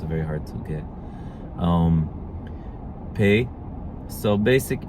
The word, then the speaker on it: פ: And pei. Pei has two pronunciations, P and F.